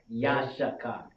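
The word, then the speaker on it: יששכר: Yashakar. There we go. Yashakar. There you go. That's how we pronounce it.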